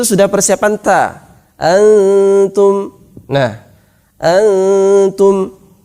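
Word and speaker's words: أنتم: Nah, antum. Ini bukan bacanya angtum, bukan banyak yang baca dengan ng, sehingga dia malah persiapan kaf. Harusnya persiapan ta. Antum, bukan angtum. Kalau angtum dia persiapan kof dan kaf.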